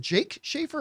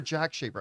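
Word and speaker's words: Jake Schreier: Is it Jake Schaefer or Jack Schaefer? I think it's Jack. Anyway. Jake. Jake. It is Jake.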